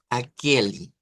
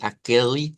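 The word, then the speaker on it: aquele: final y aquí diríamos akeli con noten lo de vinchi sechi akeli son palabras que terminan en e y la e en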